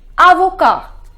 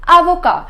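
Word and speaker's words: avocat: we say to advocate advocate is Avoca the pronunciation is Ibaka so the first rule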